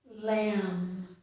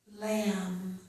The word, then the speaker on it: lamb: Lamb, lamb. Thumb, thumb. This is my thumb. And plumber, plumber. Person who fixes the pipes. We have other words too where the letter B is not pronounced.